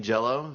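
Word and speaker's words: Jellÿ: by the band green jello spelled green jelly but the y has the two umlauts on top of it which makes it pronounced oh for the jello um we would like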